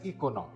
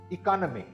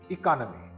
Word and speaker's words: economy: I have heard a lot of people pronouncing this word as economy, but it's actually pronounced like this. Economy. Again, economy. The second syllable is the one that is stressed.